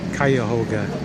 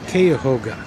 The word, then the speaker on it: Cuyahoga: I spelled it wrong, or pronounced it wrong before, and so it's Cuyahoga. Or some people, she said, call it Cuyahoga.